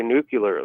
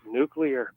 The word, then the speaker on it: nuclear: He's hooked up with it, but like they say nuclear, like it's like non-stop. Mm-hmm. And there's really no way to tell them that you just it's nuclear.